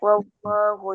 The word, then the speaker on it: والله: Ketika membaca wallahu ditekan, karena setiap tasdid ditekan membacanya. Setiap tasdid ditekan membacanya. Coba ditirukan, setiap tasdid ditekan membacanya. Ya. Maka tekan wallahu.